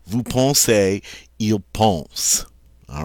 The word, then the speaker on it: vous pensez: Now, EZ, when it's at the end of a verb form like this, is going to be pronounced A. So we say vous pensez.